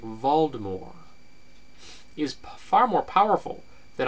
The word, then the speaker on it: Voldemort: I would go with Voldemort with the soft R and that's how the